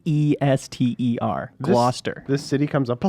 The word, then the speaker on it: Gloucester: let you go on mispronouncing it long enough Glaucus tur is pronounced Glau Gloucester Gloucester Gloucester what huh what is this thing it's